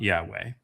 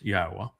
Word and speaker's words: Yahweh: And it's not Yahweh, it's Yahwa.